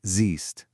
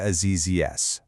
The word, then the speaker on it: siehst: And sometimes that E will stretch out into a long E sound, like in sehen, to see, which becomes siehst.